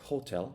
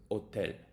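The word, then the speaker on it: hôtel: sayap then we have silent sounds like the H and otel you don't say hotel you say hotel when French people learn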